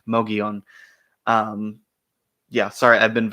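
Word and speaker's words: Mogollon: know it looks like mongan but please for the love of God understand that in the southwest if you see a Double L it's probably pronounced like a y Mion um yeah sorry I've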